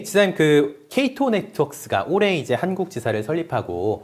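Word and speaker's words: Cato Networks: 많은 분들이 저 K2를 보시면 카터라고 읽으시기도 하고요. 세시를 사세라고 읽으신 분이 계신데요. 정확하게는 K2 네트워크스가 맞습니다.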